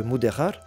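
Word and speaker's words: Mudéjar: Parce que Muderar, c'est la prononciation espagnole du mot arabe mudajan qui signifie apprivoisé. le Castillon moderne prononçant le J comme un R grassillé.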